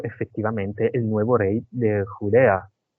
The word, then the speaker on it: Judea: ¿se dice judía? En italiano se dice Judea. Judía se Ah, dice de Judea, de Judea. Judea.